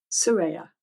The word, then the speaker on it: Soraya: me how do you say your last name Sera Sera s yes okay okay all right well